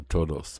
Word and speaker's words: todos: Wonder if the S is silent. No, the S isn't silent.